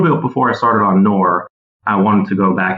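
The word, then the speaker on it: Knorr: Unilever I worked on the noir or the kannur brand as its pronounced in the rest of the world which is basically a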